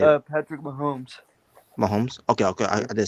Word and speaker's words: Mahomes: Patrick Mahomes.